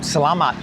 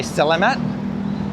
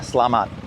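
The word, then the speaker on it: Selamat: So, the way you do it, that first S E part of it, it's not say, it's sir. It's really important. Sir, sir. So, and then the last part is "lamat". "Salamat". Yeah, say it faster, "Slamat".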